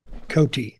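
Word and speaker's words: Coti: Cotty or Cote. C-O-T-I. Cote. Okay.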